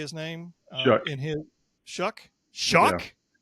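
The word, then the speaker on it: Shough: I think that's how you say his nameuck in his Shuck.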